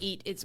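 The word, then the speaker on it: E-E-A-T: Trend number 3, EAT. We call it EAT. What is EAT? It's an acronym that stands for experience, expertise, authoritativeness, and trustworthiness. So it's spelled EEAT.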